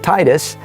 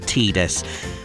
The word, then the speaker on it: Tidus: actors somewhere in jail in Japan decided to pronounce it teeters instead of Titus and I personally I liked eNOS better I'll